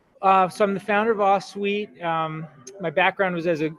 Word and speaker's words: Ahsuite: So before wasting any more time, I'll welcome Kevin Free from Ahsuite. Ahsuite, right? How you pronounce it, Kevin? Ahsuite.